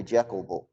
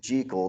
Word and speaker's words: Jekyll: that there's a and one of the pronunciations of jekyll that it rhymes with seek and then there's this